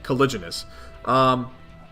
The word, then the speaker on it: caliginous: how is con cupid oh it's a soft G okay caliginous concupiscent how is that